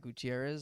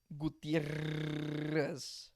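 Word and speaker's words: Gutiérrez: Gutierrez. Do you roll the R's? 4 R's. No, but do you actually roll the R's? Yeah. Gutierrez. Gutierrez. Yeah. 2 R's means you roll them.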